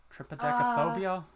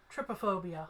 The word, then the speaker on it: trypophobia: Tripodecaphobia? No, that would be, trypophobia.